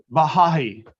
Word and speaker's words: Baha'i: How do you pronounce that? Because I was struggling with that while doing the outline. Baha'i.